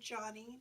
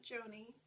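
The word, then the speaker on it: Joni: one is John II she pronounces her name Johnny not Joanie and it is about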